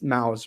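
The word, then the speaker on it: Maus: like a mouse that's mouse or Moz however you want to pronounce it being a widely recognized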